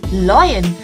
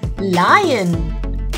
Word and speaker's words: lion: The correct pronunciation to this is lion. Sometimes you might say loyan, but no, it's not loyan, it's lion.